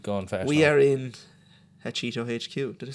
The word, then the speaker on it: Hachetto: We are in Hachetto HQ.